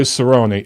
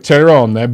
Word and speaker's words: Cerrone: It turns out going into that fight Saturday night against Cowboy Cerrone, it looks like Cerrone, but they pronounce it Cerrone.